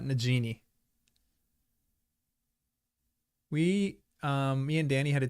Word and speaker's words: Nagini: Nagini is with a hard G. Comes from the Hindi word for snake.